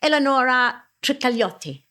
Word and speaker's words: Eleonora Trikalioti: We've got Eleonora Trikalioti.